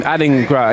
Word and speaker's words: Adingra: Adingra.